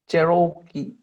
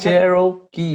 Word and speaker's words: Cherokee: Yeah, except you had too much O. So the O is not Okay. stretched out, it is unstressed. Okay. Cherokee. Okay. Cherokee. It's not even an O at all, it's just Okay. Cherokee. Cherokee. Oh, it's not like karaoke.